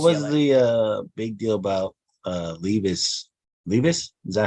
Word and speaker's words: Levis: What was the big deal about Levis? Levis? Is that how you say his name? Yeah, Will Levis.